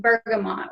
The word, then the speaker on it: bergamot: lavender Clary sage and bergamot or Bergamo depending on how you want to pronounce that one right there's also something